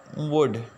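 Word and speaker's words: would: इसी तरह ही जो तीसरे नंबर पे हमारे पास वर्ड है, इसमें भी एल जो है वो साइलेंट है, इसको वोल्ड नहीं पढ़ना, इसको जिसकी जो करेक्ट प्रोनाउंसिएशन है वो है वुड, वुड।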